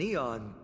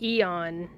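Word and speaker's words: Aeon: the gaze of an eon. I keep forgetting that they're pronounced eon. That does not look That does not look like it's pronounced eon.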